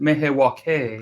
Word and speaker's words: Milwaukee: And he goes, actually, it's pronounced Milwaukee. It's an Indian language, something.